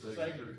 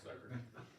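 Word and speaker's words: Sagerton: This is at Sagert. I guess that's how you pronounce that. Sagert, it's a long A, okay, Sagert.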